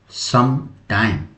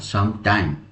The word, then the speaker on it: some time: देखिए, sometime with two stresses. देखिए यहाँ टू स्ट्रेसेज है, इसको प्रोनाउंसिएशन हम लोग पढ़ेंगे सम टाइम, ये प्रोनाउंसिएशन होगा सम टाइम मीन्स ए कंसिडरेबल अमाउंट